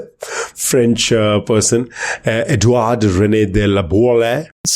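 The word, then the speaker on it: Laboulaye: The idea came out of a conversation in mid 1865 between Edward Rene Lab. Oh my god. French uh person Edward Rene de Lab. Spell that last name please.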